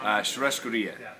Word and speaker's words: Churrascaria: Okay, second mystery, how do you pronounce the name of your restaurant? Churrascaria.